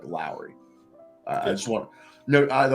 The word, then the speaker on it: Lauri: Lowry even though it's about like Lori it's pronounced because he's a dude and he's like foreign it's like Lowry I just want no the only reason I asked you is I heard someone ESPN kept saying Laurie and I'll and I was just like dude